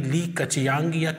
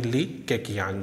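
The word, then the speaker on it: 李克强: ली युआनचाओ है और प्रधानमंत्री ली कछ्यांग क्वांग जो भी आपको सही उच्चारण लगे वह नोट कर लेना ली कछ्यांग कहीं-कहीं पर है और कहीं ली केकियांग है तो राष्ट्रपति शी जिनपिंग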